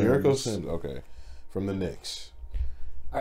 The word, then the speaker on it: Jericho Sims: Jericho Sims. Jericho Sims, okay.